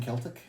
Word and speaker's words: Celtic: sorry uh only because they're mispronouncing Celtic my history and my Heritage just just cringe every time they hear so you're going for the map I'll go for anybody who wear a kilon prob the soft his only his only reason for not likeing him it's because you mispronounced it gramar police you got to have the hard seat uh wait so with